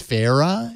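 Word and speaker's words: Sphaera: low install I think it's pronounced sfera SP h AE RA and this is a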